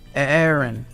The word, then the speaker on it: Aaron: Aaron's opinion. Awesome. With a double A. A-A-R-O-N. Aaron. How do you actually pronounce that? Aaron? It's Aaron. It's still Aaron.